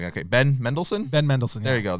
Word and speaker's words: Ben Mendelsohn: ben mendelsohn middle said middleton i love some ben mendelsohn men is it i said his name wrong okay ben mendelsohn ben mendelsohn there you go that guy awesome